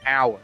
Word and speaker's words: hour: be here in an hour because you don't pronounce the h an hour or what's